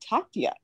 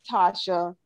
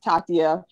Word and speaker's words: Tatia: russian oh wow and in russia they do pronounce it tatya and so i was